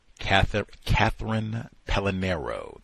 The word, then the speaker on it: Catherine Pellinero: Catherine Pellinero, that is how you say her name, might be able to hook you up with a book, perhaps.